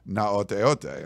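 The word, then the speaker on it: Gaoteote: But his last name starts with a G, but it's pronounced Naoteote, and I was like, okay, so.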